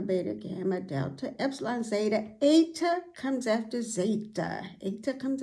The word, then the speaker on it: eta: Eta comes after zeta. Eta comes after zeta, eta. And it has the A sound as in the word late, a long A sound.